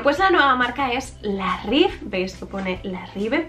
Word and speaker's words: La Rive: la nueva marca es la rif veis que pone la ri pero se pronuncia como una F al final la rif y es una de